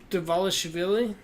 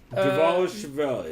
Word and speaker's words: Dvalishvili: Chris, I'll let you pronounce this one. Merab Dvalishvili. Sure. Dvalishvili? I have no fucking clue. I have no idea. Dvalishvili.